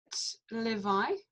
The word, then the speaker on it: Levi: Is that Levi? Mm-hmm. Yeah, and it's the Levites. So 2 syllables, le and vi.